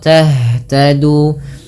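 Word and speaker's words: تهتدوا: Tadu ya, au nasara tahtadu. Dan hati-hati jangan sampai memantulkan huruf yang bukan huruf pantul. Beberapa biasanya contoh tahtadu. Maka kalau kita membaca begitu, kita membacanya dengan memantul padahal tidak boleh.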